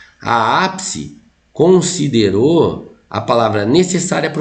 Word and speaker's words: necessária: Como é que você separa a sílaba no necessário? Geralmente você separa ela assim, ó. Ne. Se. Aí você põe o S, porque nunca fica na mesma sílaba. Nunca fica na mesma sílaba consoante dobrada ali. Necessária, tá? Necessária, ou seja, você tem uma paroxítona terminada em ditongo, igual foi aqui, ó.